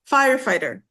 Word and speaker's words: firefighter: So we have fire, firefighter. Firefighter. Firefighter. So the first one, the first syllable.